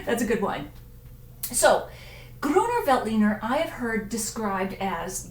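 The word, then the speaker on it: Grüner Veltliner: just love saying that Gruner Veltliner once you get past the whole thing it actually is pronounced just like it looks so I'm putting my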